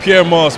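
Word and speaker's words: Pyer Moss: It's Pierre Moss, but I love it when people pronounce it wrong.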